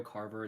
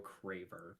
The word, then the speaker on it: Craver: It's not Mario Carver, it's Mario Craver. Oh, it's Craver.